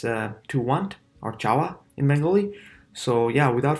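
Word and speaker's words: চাওয়া: To want is chawa, chawa. Choyakar o untustiakar. Okay, chawa. Yeah, chawa, chawa. Simplest way to pronounce it.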